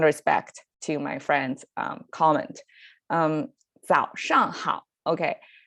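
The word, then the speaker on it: 早上好: It's 早上好. So a little bit difficult to pronounce because we have 2 third tones in there. 早上好.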